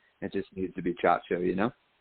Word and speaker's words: Ciaccio: So, it's Chacho. So, my parents pronounced it the way you said it, fiasio. Uh my great-grandfather Americanized it when he came from Sicily in the early 1900s, but I I brought it back to Chacho because I studied Italian